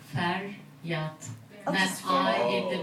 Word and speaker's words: Feryat: My name is Feryat. Feryat. It's 2 syllable. Feryat. That's just I in the middle. And you are so close because usually people think my name is Harriet.